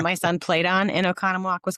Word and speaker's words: Oconomowoc: who's the reason I know how to say Oconomowoc, because that's where she's from.